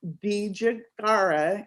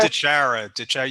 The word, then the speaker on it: DiChiara: we i know we've had conversations but joe bijagara and i may have pronounced your name wrong oh no you botched